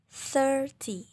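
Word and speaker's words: thirty: Ini memang agak berbeda ya antara tulisan dengan cara membacanya. Oke, coba dengerin cara bacanya seperti ini. 30. Di sini memang menggunakan huruf I ya, tapi kita bacanya seperti huruf E. 30.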